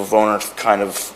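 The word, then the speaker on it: woonerf: and the concept of the Woner which is how it's pronounced there, kind of originated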